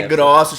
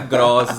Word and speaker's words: Grossos: É Grossos, falou certinho, arrasou. Não é arrasou. Grossos, aquele plural errado. Não, é Grossos, igual ossos, tá?